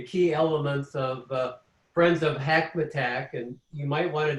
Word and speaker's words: Hackmatack: Hackmatack. It rhymes with Big Mac attack. So yes, it's 3 syllables, Hackmatack.